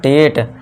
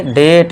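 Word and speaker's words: date: तो ये हो गया डेट। अभी के लिए हम ए नहीं लगाएंगे। ठीक है? ए नहीं लगाएंगे। ये नहीं करना है। अब गलत हो जाएगा। तो इसे क्या पढ़ेंगे? डेट ना कि डटे।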